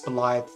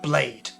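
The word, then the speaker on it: Blaidd: it's spelt like this, because the double D is a TH sound, but if you say it out loud like an Anglophile, it says blade. Blade. And yeah. the Witcher series thinks that's really cool, because it's the word blade, right? So they call him the Blade or something, but it's not blade, it's Blythe.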